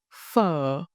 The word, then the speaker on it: Phở: Try saying fur every time you think of Vietnamese noodles.